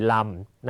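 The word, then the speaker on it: lăm: เวลา จะ อ่าน เมื่อ ลำ นะ ครับ สังเกต เลข 5 ถ้า เลข 5 อยู่ โดน ๆ จะ ใช้ คำ ว่า นำ แต่ ถ้า อยู่ ข้าง หลัง จะ ออก เสียง ว่า ลำ นะ ฮะ ต่อ มา 18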